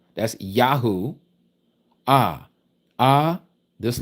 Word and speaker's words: Yahu: Y H U, not W H They give us the double U. Notice the word double. Double two letters, two Us, okay? Double U. But it's only one U. That is a Yad Ha Ua Ha. Ya U Ah. Yahoo, which is the first three